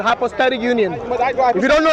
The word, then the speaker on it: hypostatic union: It's not hypostasia. It's called hypostatic union.